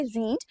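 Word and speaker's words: read: Same रहते हैं, जैसे रीड, लेकिन प्रोनाउंसिएशन चेंज हो जाता है। फर्स्ट फॉर्म में रहता है रीड, सेकंड और थर्ड फॉर्म के अंदर इसे प्रोनाउंस किया जाता है रेड।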